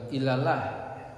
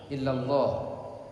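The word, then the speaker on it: إلا الله: Ashadu alla ilaha Ashadu alla ilahaillallah kan bukanallah tapi illallah illallah jangan ilallah tapi illallah illa bukan ila beda ya illa dengan ill ashadu alla ilahaillallah kalau ilaha itu enggak Boleh illaha tapi ilaha biasa ilaha.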